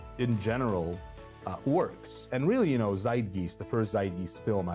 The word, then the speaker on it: Zeitgeist: Zeitgeist. How do you spell that? Zeitgeist, Zeitgeist, which is a German word, and it's something to do with like time.